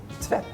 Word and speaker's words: tvätt: And since there's two T's, the A is pronounced a bit faster and stronger. So tvätt.